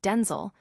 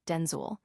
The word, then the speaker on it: Denzel: by his own fame, Washington clarified the correct pronunciation, revealing it rhymes with pencil. He explained that his mother initially used Denzel for both him and his father, Denel Hayes Washington SR.